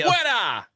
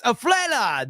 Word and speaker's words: afuera: I say, you say, afuera. See, yes, afuera. That's how you say it.